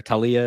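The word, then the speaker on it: Taulia: uh the tua's brother Talia is how you say his name Tu laoa uh will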